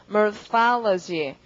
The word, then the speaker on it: morphology: 그 다음 형태학 발음은요. morphology. pha의 강세가 붙고 그러니까 morph라는 어근에다가 학에 해당하는 OLOGY를 붙인 거죠.